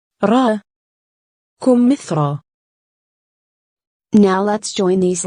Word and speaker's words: كمثرى: As you can hear, we pronounced ya as a long vowel aleph, and there are not dots below it.